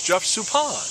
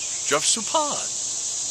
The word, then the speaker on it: Suppan: How do you mispronounce Juan Marichal? And he keeps doing it, and it's Jeff Suppan. Jeff Suppan.